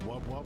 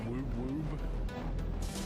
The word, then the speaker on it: wub wub: It's pronounced wub wub, not woob woob.